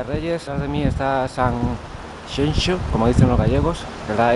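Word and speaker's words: Sanxenxo: Hoy día de Reyes, detrás de mí está San Xenxo, como dicen los gallegos. La X se pronuncia X aquí en Galicia.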